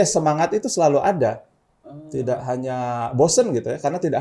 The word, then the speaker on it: Hand: ternyata kok gitu kemudian tangan itu bahasa Inggrisnya hand tapi bahasa Jerman sama tulisannya tapi dibacanya Han seperti itu kemudian Akhirnya saya minta